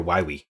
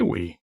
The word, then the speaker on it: Wily: Although I'm pretty sure it's pronounced Dr. Wily. Yeah, okay, Dr. I'm sorry. Wily.